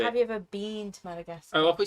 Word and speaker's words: Madagascar: I pronounce it Madagascar. Yeah. Wife? Madagascar. I noticed Scar, that the yeah. last part sounded like NASCAR.